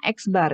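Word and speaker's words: x̄: berikut Anda bisa lihat ini bacaannya adalah Anda X kemudian ada garis strip diatas itu bacanya eksbar Ya eksbar jadi rata-rata hitung itu dibaca dengan eksbar eksbar itu X1 +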